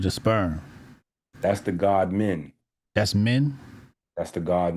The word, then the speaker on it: Min: Men, and like as in men. Yeah, but spelled with an I, M-I-N. The god Min is the Kemetic god of, And that's men.